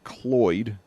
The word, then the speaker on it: Cloyd: That was Dylan Cloyd. It rhymes with Lloyd, but it's like a Lloyd with a C at the beginning.